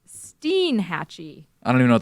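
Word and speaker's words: Steinhatchee: stuff on thing okay let's go to uh Stein hatchee what it's actually pronounced Steen hatchee I don't even know what that is it's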